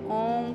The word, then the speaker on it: ओम: ओम का उच्चारण कीजिएगा ध्यान रहे कि ओम के उच्चारण के साथ अपने ना भी स्थान पर ध्यान रखें यहां से उठता हुआ एक नाद कंठ तक जाएगा तब तक आपके होठों में स्पेस रहेगा कंठ से ऊपर म का उच्चारण करते हुए नाक के पास आने तक स्पेस कम हो जाएगा पुनः दोनों होठ बंद करके म को अपने मस्तक के ब्रह्म भाग तक ले जाएंगे यह है ओम का